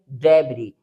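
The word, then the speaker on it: debris: Next यहां पर देखिए आई एस लास्ट में मिला है तो इसको हम रीड करेंगे डेबरी।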